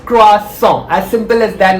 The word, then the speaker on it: croissant: are familiar with the croissant but very often mispronounced the term it's cross song as simple as that not croissant or croissant or anything cross saw i'm having my coffee with a croissant as